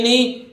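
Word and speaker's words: know: इसी तरह देखिए क्नो नहीं है, या कहीं इसको ऐसे पढ़ दें क्नो, क्नो नहीं है भाई, ओ डब्ल्यू लास्ट में आए तो ओ की ध्वनि निकालता है, के नहीं बोलेगा, नो इसको नाव मत।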